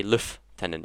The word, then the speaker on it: lieutenant: issue where lieutenant lieutenant i'm british and for some re reason we we pronounce something that is l-i-e-u-t-e-n-a-t or something like that we we don't say lieutenants we say luff tendon i think so or luff i don't